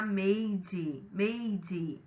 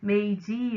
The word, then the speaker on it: Meiji: Bom, pessoal, falar de século XIX no Japão é falar da era Meiji, o J tem pronúncia de D, Meiji ou Meiji, né, que significa governo,